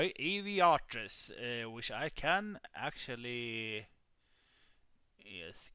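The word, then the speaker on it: Arveiaturace: But it's Aviatris.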